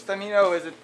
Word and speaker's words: Femino: Joseph Femino? Femino works. Okay, well, how do you say it? Well, I don't correct people. It's Femino is the way you'd say it in Italian.